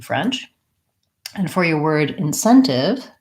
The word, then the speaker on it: incentive: for your word incentive second syllable stress four syllables just like a short word in in scent just like the word scent and then incentive incentive and we use a clear tea on that we don't change that one because it actually because it's starting this last syllable so stretch on the Sen incentive great good questions